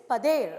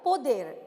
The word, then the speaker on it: pader: even today all right in portuguese the pronunciation is pader all right in of course our local language we call the baker poder exactly that's what's the